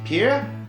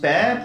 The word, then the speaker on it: pear: qui font que si le mot Pear devrait normalement se prononcer /pɪə/. Eh bien ça se prononce /peə/ pour éviter de confondre ça avec d'autres mots comme Peer.